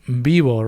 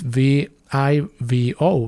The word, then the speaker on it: vivo: And just a quick note, I'm saying bivo, right? For it's spelled with a V. It's V I V O. Vivo. However, it sounds pretty much like a B.